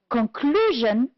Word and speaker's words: conclusion: The first one, first syllable, practical, honest, and product. On the second syllable, we have the word conclusion, direct, unethical, produce. The words that are stressed on the third syllable are imitation, economical. And the word, we have only one, which is stressed on the fourth syllable, is responsibility. Good.